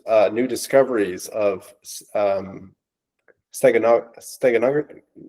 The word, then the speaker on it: steganography: there's been rumors uh new discoveries of um steganog steganog, how do you say it? Steganography.